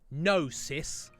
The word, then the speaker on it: gnosis: that word is it nosis is it a silent G like there there's gnostics which is like with a G and that's like a sect the Gnostic set so is it just nosis yes L nearly 80